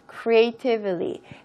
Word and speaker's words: creatively: 자, 여기서 creatively 여러분 둘 다 발음 괜찮거든요. 근데 사실 미국식 발음으로 더 하고 싶으시면은 모음과 모음 사이에 T가 있는 거니까 T 발음을 조금 약화시켜 주시는 게 더 정확한, 여러분이 만약에 미국식 발음을 더 원한다고 하시면 그렇게 발음하시는 것도 좋고요. creatively라고 해도 전혀 틀린 발음은 아닙니다.